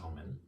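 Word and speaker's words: Oman: Oh man, it's actually pronounced Omen. It's spelled like the country, but pronounced like the movie.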